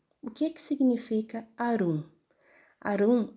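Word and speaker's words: עָרוּם: que Adão e Eva, os dois, estavam nus, Arumim, como você pode perceber aqui a pronúncia. Vou trocar a cor aqui para destacar, tá? Aqui, ó, a pronúncia Arumim, Arumim, Arumim, plural, nus.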